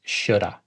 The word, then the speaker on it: should have: have done this first the way that a fluent speaker would pronounce this is Shoulda I should have done